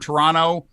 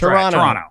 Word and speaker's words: Toronto: guys say the word toronto uh that's not how people in canada pronounce it try dropping the second t as in terra no